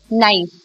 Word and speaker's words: knife: Knife, K is silent.